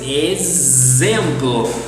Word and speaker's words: exemplo: But also in Portuguese, the letter X can be pronounced as a Z. Yes, for example. For example in Portuguese. Exemplo.